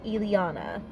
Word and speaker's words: Ileana: is the photo reference that I used for Ileana and yes that's how her name is pronounced she was born in Bucharest she was